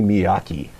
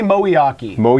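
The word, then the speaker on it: Moeaki: this one just because I get to correct somebody else's pronouncing great it's Tony moly Aki oh yeah yeah that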